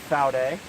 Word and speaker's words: Vaude: What I've got here is the Vaude, and it is German, so it is pronounced Vaude with a F instead of a V.